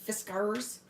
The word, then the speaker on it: Fiskars: I worked for Fiskars that's how you say it like a pirate fiscars so I have like